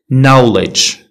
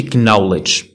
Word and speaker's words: knowledge: كيف ما كتعرفوا no ماشي now knock كتدق knowledge knowledge ماشي knowledge. Silent l. L is often ولا often not pronounced before.